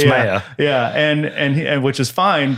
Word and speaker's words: Maier: Oh, I do it because I say Maier and you say it's Maier.